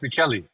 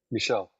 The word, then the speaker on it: Michele: No, it's Michele. Michelle. No, Michele. It's Michael it's my first name is Italian for I'm Michael. But it's spelled like that. It's spelled Michele and it's pronounced Michele.